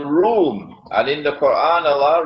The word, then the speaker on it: روم: This is his prophecy, that Muslims are going to form an alliance with Room. It is pronounced as R-O-O-M, Room, but the Arabic word Room is, it describes Eastern Christianity.